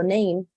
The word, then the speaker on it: name: mi palabra entonces normalmente palabras que ustedes vean así chiquiticas sí como las ven acá esta sigue siendo una palabra chiquitica no tiene más de dos sílabas Y ustedes ven que hay una y al final lo más probable es que SAE no se vaya a pronunciar de ninguna manera y miren los ejemplos